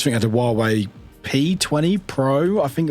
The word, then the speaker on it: Huawei: It's spelled with H, but I think it's pronounced it Huawei.